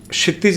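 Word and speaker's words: क्षितिज: पहला तो मैं क्षितज मेरा नाम हुआ। क्षितज जी ठीक है थोड़ा सा प्रोनाउंसिएशन में दिक्कत होती है और 28 दिसंबर नहीं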